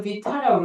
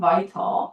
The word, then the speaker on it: vital: 네, 얘를 비타라고 읽으면 떼가 드릴 거예요. vital.